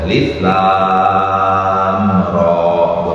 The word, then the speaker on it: الر: Alif lam ra, gitu cara bacanya. Alif lam ra, bukan.